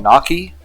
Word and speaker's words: gnocchi: Isn't there an Italian dish called gnocchi? It starts with the letter G, but that's sort of, a silent letter, and it's like, it's dumplings made out of potatoes?